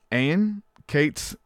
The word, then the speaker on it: Ayn: I want to make sure I said it right because I wanted to say Ann. It's Ayn though. There's a big distinction there, right? It's A-Y-N, but pronounced Ayn, right?